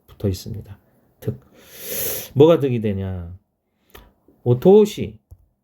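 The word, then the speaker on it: お通し: 있습니다 뭐가 등이 되냐 오토시 오토시라고 읽어요 오는 격식을 차리기 위해서 앞에 붙은 거죠 원래 토시에 토스는 토스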